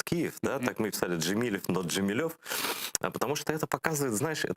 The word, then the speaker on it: Джемилев: до Тего ставлю спокойно Ты знаешь как Мустафа джемилев его всё время джемилёв называют он никогда не поправляет Но